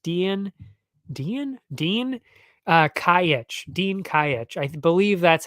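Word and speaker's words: Dejan Kajić: tough one to say I believe it's Dean kayitch though anyway or day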